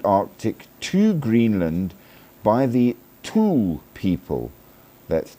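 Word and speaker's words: Thule: They were brought across the Arctic to Greenland by the Tul people, that's t hu L E, around a thousand years ago, which is pretty damn cool.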